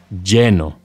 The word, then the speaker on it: lleno: Two L's in Spanish are pronounced as a Y sound, ya, yeah, or a sh sound, or even a j sound. They are all perfectly acceptable ways of pronouncing the double L.